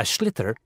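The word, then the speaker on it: sliotar: this ball called a schlitter that's s l i o t a r so it's not spelled the way it's pronounced you hit it into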